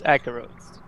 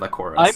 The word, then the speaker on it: Akaros: Well, I try to be like local, so it's Akaros. Okay. Yeah. Okay. Instead of Akoros.